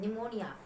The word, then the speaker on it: pneumonia: जिसके बारे में पढेंगे निमोनिया निमोनिया में पीठ साइलेंट होता है निमोनिया एक बैक्टीरियल डिजिट